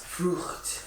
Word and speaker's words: Frucht: Frucht. Frucht. Frucht. Frucht. Frucht. That's a tough one. The F and the R.